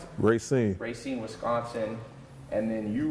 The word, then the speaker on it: Racine: That's how you pronounce it? Racine.